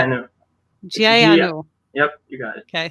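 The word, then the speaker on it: ਜੀ ਆਇਆਂ ਨੂੰ: Can you please pronounce it for us? Yeah. Yeah, it's how do you say it? Jayanu.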